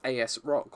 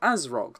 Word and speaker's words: ASRock: to deal with is asrock or azrog depending on your choice of pronounciation so let's say leek